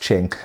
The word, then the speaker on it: Qing: I always say Qing because that's how it's written, but I do know that it's pronounced Qing.